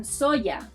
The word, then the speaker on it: soya: And you'll hear it in soya, as in soy sauce, where the sound resembles that of the double L in llamar and llegar.